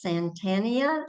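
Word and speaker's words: Santayana: It's from George Santania.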